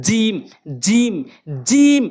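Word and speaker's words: جيم: এরপর আসুন জিমটি, জিম কীভাবে উচ্চারণ করবেন? জিম বললে কি হবে? জিম বললে কি হবে? না, হবে না। জিম বলতে হবে, কেননা জিহ্বার মাঝখানের অংশটা উপরে তালুর সঙ্গে লাগাবেন। বুঝতে পারতেন তো কোথায় বলতেছি? জিহ্বার মাঝখানের অংশটা উপরে তালুর সঙ্গে লাগবেন। জিম জিম জিম এভাবে উচ্চারণ করবেন।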